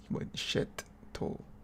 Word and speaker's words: Checchetto: But with 2 T's, it's Checchetto. Marco Checchetto.